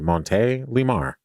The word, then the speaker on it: Montélimar: That's how you pronounce it. Monte Lear. Oh, okay. France. The way you said it kind of quickly. Did it sound douchy? And it sounded like one word. Yeah, it is. Monte Lamar.